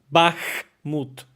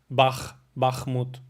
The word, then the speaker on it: Bakhmut: Bakhmut, Bakhmut, Bakhmut, Bakhmut. Or you can say like this, Bakhmut. But you can say Bakhmut.